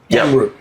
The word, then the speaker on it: Amrut: yeah yeah and you this is pronounced AMR amot amot okay and it's a